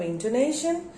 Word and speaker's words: intonation: used stress into nation when i say intonation so where do there are four syllables in to nation and where do i put the stress into nation name this syllable has got the stress now what is intonation